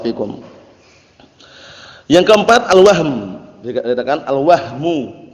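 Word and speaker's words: الوهم: Dikatakan al-wahmu. Jangan antum bacanya keliru ya, karena wahamun lain lagi. Al-wahmu bisukuni al-ha.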